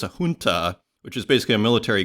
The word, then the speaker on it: junta: and it is with even though it's spelled with a J, it's pronounced H. I was looking it up today. So it's a junta, which is basically a